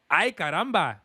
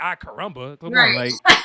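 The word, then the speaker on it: Ay Caramba: come on you gotta you gotta say it like that because because if you don't it would be considered it'd be disrespectful you can't just say I carumba so yeah ours you gotta roll your r's so with that being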